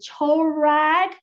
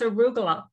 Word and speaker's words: arugula: You shared on in chat the chorag. Is that how I pronounce it? Chorag? Is that a Hungarian nut roll? So it's arugula. Arugula. Arugula. Oh, okay. Okay, arugula. Yes.